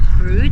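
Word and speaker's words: Brewood: Yesterday we came up through a town spelt Breward but pronounced Brood.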